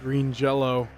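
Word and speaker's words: Green Jellÿ: band's name is is spelled out green jelly but there's an uml out on the Y so you pronounce it Green Jello oh okay uh there's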